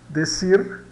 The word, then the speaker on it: decir: CI vai dar o tsi, tsi. Então, temos o exemplo aqui, decir, decir, decir, dizer, né?